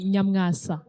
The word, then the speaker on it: Nyamwasa: Nyamwasa sounds like a Kenyan name, by the way. Nyamwasa, it's a Kinyarwanda name. Nyamwasa. It's actually Nyamwasa.